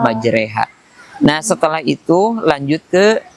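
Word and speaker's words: مجريها: Contoh, umpamanya majroha yang secara harakat iya, penulisannya dibaca ro, akan tetapi pembacaannya justru harus dimiringkan dibaca majreha.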